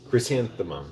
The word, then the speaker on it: chrysanthemum: Chrysanthemum, is that how it's pronounced? Chrysanthemum, yeah.